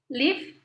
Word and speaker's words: live: Live seperti give ya. Cara pengucapannya sama.